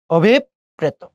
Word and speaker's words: অভিপ্রেত: অভিপ্রেত। খেয়াল করে দেখেন, ঢাকা বিশ্ববিদ্যালয়ের প্রশ্ন এটি। অভিপ্রেত, এখানে রস্বইকার আছে। রস্বইকার থাকলে এর আগের যে অ আছে তাকে কি করতে হয়? ও করতে হয়।